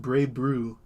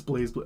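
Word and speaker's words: BlazBlue: In Japanese, they omit the Z, and the games are pronounced Bray Brew, but it's Blaze Blue.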